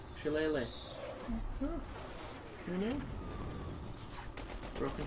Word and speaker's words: shillelagh: It's an E sound at the end. Shillelagh. Shillelagh.